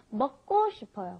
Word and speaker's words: 먹고: So anyway, for some reason, when you got that K, the giuk, followed by another giuk, it ends up being a double giuk most of the time. So it's not 먹고 싶어요, it's 먹고 싶어요, 먹고.